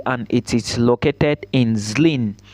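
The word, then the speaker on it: Zlín: Thomas B University and it is located in Zin Zen is spelled z l i n I want to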